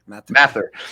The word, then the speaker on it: Mathur: Mathur.